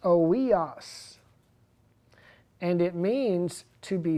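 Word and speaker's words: υἱός: And that is completely false, because the scriptures that talk about adoption, it's a Greek word pronounced oios.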